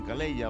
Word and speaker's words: Calleja: se escribe así y yo digo calleja Ellos dicen caleya o algo por el estilo Claro que así no parece que sea español de hecho no son españoles Bueno pues kur caleya